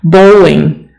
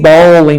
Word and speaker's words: bowling: the B is silent bowling bowling don't say balling because we have the word ball right like this this